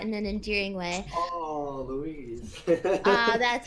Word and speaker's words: Louise: On Twitch, Who's Your Daddy says Cupcake sounds a lot like, is this Lois from Bob's Burgers, meaning that in an endearing way. Oh, Louise. That's how you pronounce it.